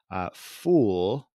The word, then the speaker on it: ful: Ful, it's pronounced, I think it's spelled F-U-L, but ful is like this fava bean stew that people have for breakfast over there, I'm told.